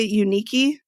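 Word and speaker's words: Yunieki: might be something between how do you say unique yeah it was it's spelled y-u-n-i-e-k-i which is an odd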